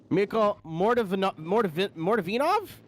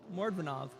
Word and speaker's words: Mordvinov: You can all punch me in the jaw, especially Mikhail Mordavinov? Oh, I got it wrong. Mordvinov.